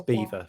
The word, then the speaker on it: Belvoir: It's spelled like Belvoir, but it's Beaver for some reason.